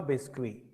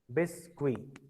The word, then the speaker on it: biscuit: Biscuit, a biscuit or le biscuit. Biscuit. Sir, Yes, Akshat? sir, T is silent in biscuit.